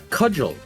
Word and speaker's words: cudgel: The way Finch pronounces things is insane. Okay, how would you say it? Cudgel.